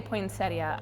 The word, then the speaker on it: poinsettia: is named after poet so whether you pronounce that I in there or not okay so if I say poeta I'm not saying it wrong okay really nobody's saying